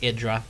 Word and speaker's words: IdrA: is there right now and yes it is idra idra guys just call him idra no more iding left and right uh it's not the way you pronounce it and he stated that